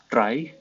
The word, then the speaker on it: trie: so what's a try a try pronounces try or a prefix tree is